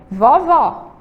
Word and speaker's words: vovó: A gente tem aí o vovô e do outro lado a gente tem vovó. Vejam só, vovô, a sílaba tônica é o vô final. Vovó, a sílaba tônica também é o final.